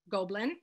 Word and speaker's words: Gobelin: Pamela Fletteau, I think is how you pronounce it. What aspects of the, is it Gobelin? Gobelin.